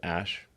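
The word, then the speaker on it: Æ: X um and then the AE is like pronounced Ash um yeah and then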